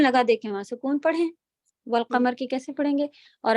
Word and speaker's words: والقمر: واو فتح لام سکون، بیچ کے آپ یہ ساری چیزیں اسکپ کریں گی، حمزۃ الوصل نہیں بولیں گی، ایسے.